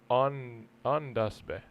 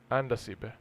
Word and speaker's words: Andasibe: How you pronounce it? I'm not above the national park of Andasibe. Sorry, Andasibe.